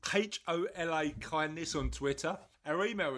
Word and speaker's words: hola: on Twitter oh uh hola kindness hola kindness what's what's the matter with the accent what's the matter with the accent you're pronouncing the H too much the problem the problem